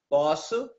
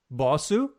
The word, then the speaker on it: posso: Posso. Bosso? Posso. Fosso? No, posso. P-O. Oh, posso.